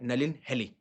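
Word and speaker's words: Nalin Haley: अ एक नाम है नेलिन हेली। अब कैसे प्रोनाउंस करते हैं?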